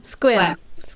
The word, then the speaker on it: Sequim: Is it Sequim or Squim? Squim.